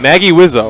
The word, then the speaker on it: Magewizzo: How'd you say you pronounce it? I said Magewizzo.